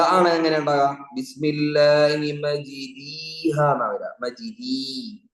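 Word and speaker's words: مجراها: ബിസ്മില്ലാഹി മജ്രീഹ എന്നാ വരാ, മജ്രീ, മജ്റാ, മജ്രീ. ഇതെങ്ങനെ ഓതേണ്ടത്? മജ്രീയുടെയും മജ്റായുടെയും ഇടയിലായി. ചില ഉലമാക്കൾ പറഞ്ഞ യാഇനോടാണ് കൂടുതൽ അടുപ്പം.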